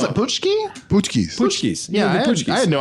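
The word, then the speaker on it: pączki: I didn't know how you pronounce it. Putschki? Putschkis. Putschkis.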